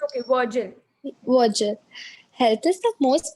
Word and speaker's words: Virgil: I don't know how to pronounce this poet's name. It's okay, Virgil.